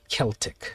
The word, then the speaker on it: Celtic: know if you know this so obviously it's celtic right that's the correct pronunciation in the us we have a basketball